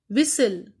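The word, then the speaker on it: whistle: विसल, विसल में टी की sound नहीं आती, हमने लिखा कैसल।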